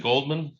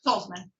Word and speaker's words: Tolzman: And Miss, is it Goldman? Tolzman. Say it again. Tolzman. Toldman. I knew I was mispronouncing that.